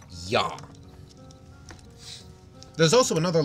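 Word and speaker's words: Я: the Latin alphabet no that sound is actually yaa yaa so when you see backwards R that's pronounced yah there's also another letter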